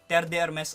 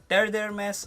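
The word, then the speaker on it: Terre d'Hermès: i pronounced this wrong i pronounced this one as terdermess o tres fresh and many commented that i pronounced it wrong so i think this time i got it right already teredermas o tre fresh now this fragrance is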